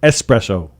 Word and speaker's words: espresso: thing that's American Express that's not how you say it in Spanish it's not Americano espresso It's s with an S espresso yeah this one gets